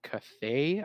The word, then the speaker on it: Cathay: They're going to be there's going to be two human factions, the Kislev and the Cathay, I believe it's pronounced, and they kind of resemble like Russia and like China.